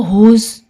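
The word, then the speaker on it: whose: अब देखो हुज, अब इसमें हम एच को प्रोनाउंस करेंगे, डब्ल्यू साइलेंट होएगा।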